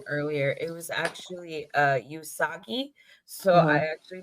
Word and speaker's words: Usagi: sailor Moon's name earlier it was actually uh usagi so I actually pronounced that wrong because I I knew I